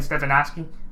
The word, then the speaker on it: Stefanski: Now with Stefanski, Kevin Stefanski, that's how you say it.